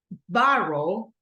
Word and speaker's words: borrow: Listen to my pronunciation. Borrow, borrow. So which one is? It's in the first one. Listen, because I'm not saying borrow, I'm saying borrow, right?